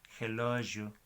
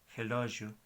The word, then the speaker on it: relógio: Más bien, el sonido es je. La palabra de reloj es relógio. Je, relógio.